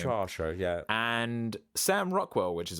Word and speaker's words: Saoirse: Oh yes, I can't remember how to pronounce her name. Saoirse, yeah.